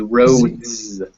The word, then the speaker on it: roads: possessive and um so how do you think the plural of road would be pronounced do you think it would be pronounced with an s or a z at the i think so and that sounds at roads so it would actually be a z it'd be rhodes and the reason is